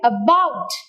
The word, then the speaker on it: about: before beneath like that so the words like about about where do you hear the prominence on the syllable book so words with